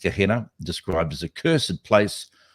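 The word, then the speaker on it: Gehenna: that became to be called kahena I think it's pronounced kahena described as a cursed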